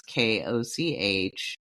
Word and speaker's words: Koch: That's Koch. Okay, the Koch system.